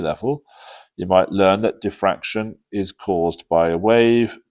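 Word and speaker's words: diffraction: It's sometimes pronounced diraction in in particular some parts of the world. Uh we tend to pronounce it defraction.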